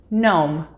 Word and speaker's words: gnome: end of words g g is silent when we see it come before m or n in the same syllable for example phlegm gnome or foreign as well